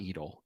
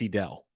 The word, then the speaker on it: Edel: Edel is not Edel. It's Edel.